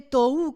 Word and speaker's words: tohu: vacía, que viene de una palabra hebrea que se escribe tohu con H intermedia, y bohu también, así como suena, significa confusión y vaciedad de esa palabra.